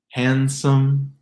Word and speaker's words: handsome: And then we get even 2-syllable words like depends, windshield, windmill, handsome, Lindsay, the name Lindsay, and bandwidth, bandwidth. No D in those words.